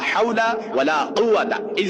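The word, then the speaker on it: حول: লা হাওলা, এই হা কিন্তু দুইটা আছে, একটা হচ্ছে হায়া হুত্তি আর একটা হচ্ছে হায়া হাওয়াস। আপনাকে অবশ্যই এই হাটা হায়া হুত্তি যেটা, এটা পড়তে হবে। লা হাওলা ওয়ালা কুওয়াতা, এই যে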